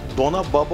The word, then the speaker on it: Dona Baba: Eski Türkçe'de Dona Baba olarak okunuyormuş ama Dona'nın anlamında elbise anlamına geliyormuş.